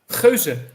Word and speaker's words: Geuze: Geuze.